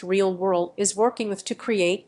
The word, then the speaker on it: RLWRLD: A hotel chain is one of many companies South Korean artificial intelligence startup RLWRLD pronounced realw world is working with to